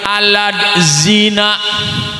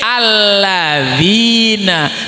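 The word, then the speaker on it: الذين: bahaya Batur mah Al karena macanya pakai latin alat zina ngomongnya alat zina padal mah cara bapaknya cara bacanya lidahnya digigit sedikit lidahnya digigit sedikit alladzina tulisannya aladzina ini bahanya pakai tulisan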